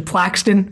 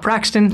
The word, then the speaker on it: Plaxton: Also, just want to, like, point out that it's actually Plaxton, I just realized, and not Praxton, so we've been saying it wrong the entire time.